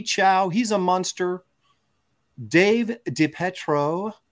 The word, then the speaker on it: DiPietro: I think that's pronounced DiPietro. Well, you know how I am with names. No, it has pie in the word, so I'm going to emphasize that. Well, they never did that